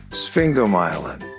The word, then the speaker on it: sphingomyelin: out challenging isn't it this is how you pronounce it sphinx go myelin sphingomyelin sphingomyelin did you know